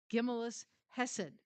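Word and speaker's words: Gemilut Chesed: It says the Talmud differentiates between charity, giving money to the poor, and what's pronounced Gimellus Hesed, which involves physical assistance to the needy and seeking ways to make the aid meaningful.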